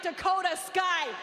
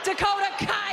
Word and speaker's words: Dakota Kai: for clarification's sake we should play it like dakota sky dakota kai i know i said it wrong you dummies